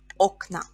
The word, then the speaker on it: окна: We have o ending here, so in plural, окно becomes окна, окна. In singular, окно, or the second o is stressed, окно. In plural, the first o is stressed, окна.